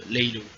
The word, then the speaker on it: Laylow: choses, donc voilà, je vous laisse aller écouter Laylo, tout simplement. Donc ça s'écrit Laylow, voilà, pour ceux qui veulent savoir.